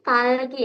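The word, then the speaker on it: 딸기: Fiosi, tadi ini bacanya bukan dalgi tapi talgi ya. Ingat dia double digit berarti lebih ke T gitu ya.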